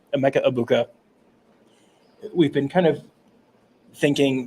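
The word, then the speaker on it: Emeka Egbuka: for a minute about a Mecca abuka sorry almost almost said it wrong Emeka abuka we've been kind of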